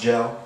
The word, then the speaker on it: JL: Got rid of the E, still pronounced Gel.